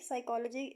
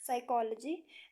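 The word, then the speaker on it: psychology: जो first world है यानी के साइकोलॉजी के स्टार्ट में पी आता है लेकिन पी जो है वो साइलेंट हो जाता है पी लिखने में आता है लेकिन पढ़ने में नहीं आता साइकोलॉजी नाइफ के जो है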